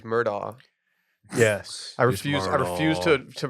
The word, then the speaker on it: Murdaugh: that Murdoch documentary. Remember I told y'all about it? Dude, it's Murdaugh.